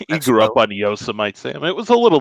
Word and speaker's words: Yosemite: I also remember him not being able to pronounce Yosemite and calling it Yosemite over and over and over again, I didn't know multiple that.